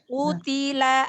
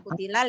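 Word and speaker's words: قُتِلَ: Utila ashabul ukhdud. Utila bukan kutilal, ya.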